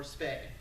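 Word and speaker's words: spá: The prophetic stuff is most of the time referred to as spow, S-P-A with the accent, or spay, S-P-A-E, it's pronounced spow. But they call it spay in the modern world.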